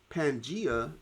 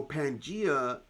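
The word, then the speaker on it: Pangaea: Pangia is represented on the map. Is it at A, B, no, A, C, D, or E? And uh so pangia is a um is a superc continent that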